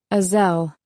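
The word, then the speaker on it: Aysel: do you say it azelle I say rhymes with gazelle he Squints with confusion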